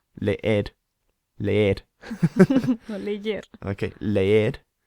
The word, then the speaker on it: leer: Leer, Leer. Leer. no leyer. Okay, leer, which means to read, is spelt L-E-E-R. So it looks like in English, leer. Don't pronounce it like that. It's leer.